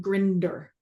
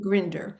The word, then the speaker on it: Grinder: Um neural linguistic programming started from grandler and binder. Am I saying it right? You've got them mixed up actually. You've mal. So it's Bandler Bandler and John Grinder. Yeah. Bandler and Grinder.